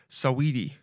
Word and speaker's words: Saweetie: Saweetie? That's how you say it. Saweetie.